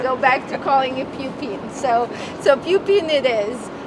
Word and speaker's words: Pupin: standing in front of a historic building called puping Hall at Columbia Anthony pronounced it actually correctly it's pupin the name